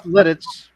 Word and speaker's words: Lititz: he spelled that right now that's how it's pronounced though that's Lititz but um at the end of that word